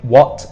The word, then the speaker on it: watt: 60 watts now what the pronunciation is exactly like the question what but that one we use within H this one we don't have H because again it's someone's name so what and then a Double